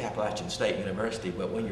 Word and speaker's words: Appalachian: But he always said, if you want to know how to pronounce it, Snake says Eve, if you try to deceive, I'll throw this Appalachian.